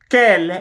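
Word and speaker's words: quel: plural are feminine plural kell is pronounced the same way it doesn't matter whether it is feminine singular or masculine singular are masculine plural are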